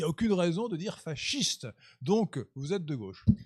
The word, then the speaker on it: fascisme: La gauche antifasciste prononce à l'italienne fascisme. Et quand on n'est pas de gauche, on doit dire, à mon humble avis, fasciste.